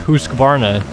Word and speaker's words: Husqvarna: I pronounce Husqvarna, which I know, again, is pronounced Husqvarna, but, you know, a little life lesson for any of you people out there.